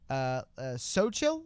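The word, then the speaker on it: Xochil: They said it's pronounced Sochil, I believe.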